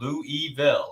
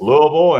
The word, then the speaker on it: Louisville: pronounced that town wrong it's not Lou eville it's Louisville so it's Louisville and it's North Fork